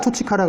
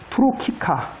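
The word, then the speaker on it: turcica: 이렇게 된 거를 셀라 투치카라 그래요. 셀라 투로키카. 이것도 왜 투치카라고 하느냐? 이거를 치라고 발음하는 건 교회 발음이고 키라고 발음하는 거는 고전 발음인 거죠. 아무렇게나 발음해도 상관없습니다.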